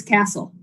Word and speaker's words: Cassell: It's Castle. Castle, okay. Yeah.